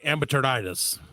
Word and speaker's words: AmberTurditis: But okay, so if I'm afflicted by AmberTurditis, yes, you are saying it correctly.